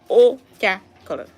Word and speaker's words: Uchakiri: You may not pronounce it the way she pronounced it, but you can try. Uchakiri.